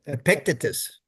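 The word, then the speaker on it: Epictetus: uh you probably know this name how to pronounce it better, but Epicetus, is that how you say it? Ep Epictitus.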